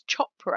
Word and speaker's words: Chopra: I think it's Chopra, actually. Priyanka Chopra as the pronunciation of her name.